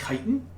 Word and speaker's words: chitin: It's pronounced chitin. Why is it spelled CH if it's pronounced chitin? I hate English.